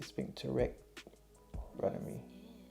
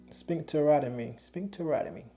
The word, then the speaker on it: sphincterotomy: The name of the surgery, I want to say sphincterectomy. Because I'd be saying sphincterectomy. They were like, no, that ain't how you say it. But sphincterotomy.